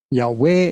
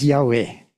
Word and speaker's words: Yahweh: Jehová pero no es Jehová es yah yahwe yahve con b es probablemente pronunciación más correcta aunque yo no hablo